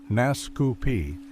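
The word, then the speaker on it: Naskapi: The Nuscapi, pronounced Nascu Pi, an Algangquian people of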